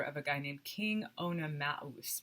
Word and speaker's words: Oenomaus: Hippodamia is the daughter of a guy named King Oenomaus. Maus is how you would pronounce that, with that umlaut.